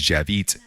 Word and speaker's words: Dziewit: My Javit, my last name Javit, comes from the Polish spelling Dziewit. It's spelled that way, but it's said as Javit phonetically in Polish.